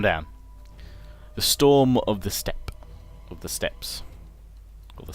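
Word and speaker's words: Steppe: or rather it's actually I probably shouldn't say the e at the end I presume it's probably a silent e e so it's the step Spearman but feel free to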